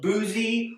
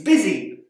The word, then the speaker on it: busy: instead it makes it in sound it's not boozy or buzzy it's busy word here the o together with the r is pronounced earth and that's confusing because that sound